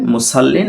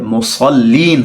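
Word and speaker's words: مصلين: আয়াত মুসল্লিন পড়েন অনেকে মুসল্লিন এটা বিশুদ্ধ উচ্চারণ নয় এখানে সদ রয়েছে মুসল্লিন হবেন আল্লাজিনাহুমতি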